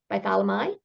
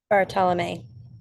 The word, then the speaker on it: Bartolomei: Bartholomei? Bartolomei. Bartolomei. I love that. So, always pronouncing correctly is a good thing.